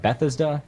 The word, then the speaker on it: Bethesda: got it from the uh how do you pronounce this be Betha Bethesda you know the company that's publishing the new